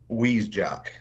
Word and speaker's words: Hvizdzak: last name he's just he's one of those names that's pronounced or spelled a certain way but it's pronounced a different way what's your last name Matt wej wej wej okay but it starts with an H HV v i z so anyway he's got